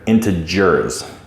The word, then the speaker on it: integers: This is a nice soft G right here, integers, okay?